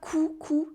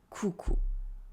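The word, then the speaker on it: coucou: and by the way it is not cuckoo like a crew for a hit cuckoo and it's not a couscous either it is cuckoo but all that is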